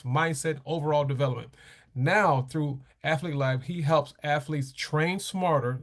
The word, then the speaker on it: Athlete Lab: Gotta say it right. Athlete Lab. I want to say athletic. Athlete Lab.